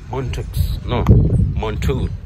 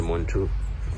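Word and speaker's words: Mantoux: It's called Montu tuberculin skin test. I usually add the X after Montu. Actually, it's a French name.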